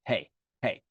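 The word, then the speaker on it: פ: So pay makes a p sound or a f sound as well. Same letter, just two different pronunciations. Pay, pay.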